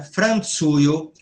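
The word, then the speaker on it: Francio: Olha como fala fran com de pizza. Franzuyo, polui roslovlakio estas emo também a Itália, França, Polônia e Toslováquia são quatro países na Europa apareceu um N.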